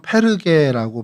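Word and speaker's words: Πέργη: 그래서 이곳을 좀 저희가 오늘 살펴보려고 하는데요.이 버가라는 곳은 이제 헬라어로는 페르게라고 발음을 합니다.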